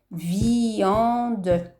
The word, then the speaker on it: viande: C'est une lettre muette, mais elle est là. Donc votre enfant, pour l'aider, dites-lui de dire chaque syllabe écrite. Viande.